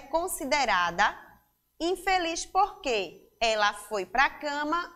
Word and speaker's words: infeliz: som do Z Porém quando nós pronunciamos a palavra infeliz usei passa a ser o som da letrinha S certo crianças bom então